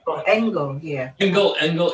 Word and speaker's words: Engel: it does that right is that how you say it ingle engel yep that's fine angle it means angel and german it also means young